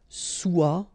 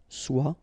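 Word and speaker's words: sois: Okay, then of course être and avoir, so être will become soit, remember final S is not pronounced, soit, then soyons, soyez, all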